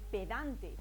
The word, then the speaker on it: pedante: eso podríamos decir que pedante tiene acento en dan pero no tiene acento